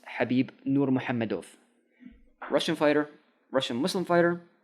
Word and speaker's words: Khabib Nurmagomedov: That's how you say his name, by the way. It's not Khabib Nurmagomedov. No, it's Habib Nurmagomedov.